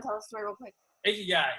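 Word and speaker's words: ikigai: guy it's I Ki G AI but it's pronounced iy guy what it is basically is a purpose they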